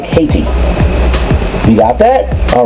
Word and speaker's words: Hayti: There was a community called Hayt, and it's spelled Hayt, or T-I, Hayti, and how would you pronounce it? It's like a Haiti, huh?